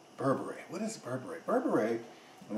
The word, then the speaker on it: berbere: burberry what is burberry berbere and that's kind of like the english pronunciation of it in ethiopia they pronounce it a little bit differently it's a it's a